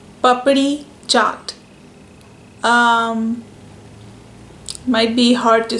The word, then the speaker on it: Papdi: so I'm going to break it into two words. Pap, as in like a, puppy, and you just say the short form of it, pap, and ri. It's an alphabet that I don't think the sound is even available in the English language, but I'll tell you how we make it in our mouth.